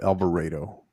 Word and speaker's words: Alvarado: you pronounce it rafa they pronounce it they pronounce it in that region in that area alvarado it's kind of it's kind of like celina